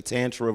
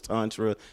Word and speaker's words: Tantra: would you pronounce it I hear some people say Tantra versus Tantra like tomato tomato is it both it could be either or really okay good to know so